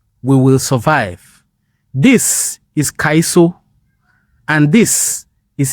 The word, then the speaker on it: Kaiso: Kaiso. Kaiso, not Calypso. Not So Calypso. okay, so it was like maybe like the white folks that couldn't pronounce Kaiso.